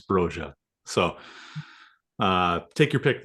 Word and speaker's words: Broja: pronunciation there because uh Albanian it's broya broa bro broa came out on the the club website and said it's broa so uh take your